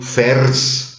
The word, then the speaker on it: fers: Ferris, ferris wird zu fers. Das I fällt aus. Ferris, du trägst fers. Wenn Sie ferris schnell und schlampert sprechen, kommen Sie eh automatisch auf fers.